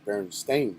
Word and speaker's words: Berenstain: So I learned how to pronounce it right, and I remember it was EIN, Berenstein. Now it's AIN, Berenstain.